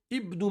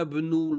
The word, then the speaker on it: ابن: Ibnu, on le prononce au début de la phrase. Anta, naturellement, c'est hamzatu al-qat', donc on le prononce. Ana ibnu. Hamzatul wasl, on ne le prononce pas. Ana ibnul waziri. Wa hakada. Donc, hamzatul wasl, on le prononce qu'au début de la phrase et pas au milieu.